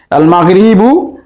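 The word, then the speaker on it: المغرب: আল মাগরিবু এর আলিফ লামের লাম উচ্চারণ হচ্ছে, তাই এটিকে আমরা বলতে পারি আল হুরুফুল কামারিয়া।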